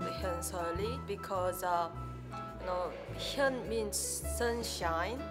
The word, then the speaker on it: Hyeonseo Lee: Can you teach me to pronounce it right? Hyeonseo Lee. Hyeonseo Lee.